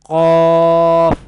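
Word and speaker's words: ق: It will be categorized in Lahviya category, and Qaf will be pronounced from the root of the tongue and the soft palate.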